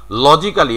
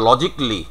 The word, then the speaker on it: logically: লজিক্যালি আমরা বলি, তো ইট ইজ অ্যাপ্রোপ্রিয়েট প্রনাউন্সিয়েশনে হচ্ছে লজিকলি।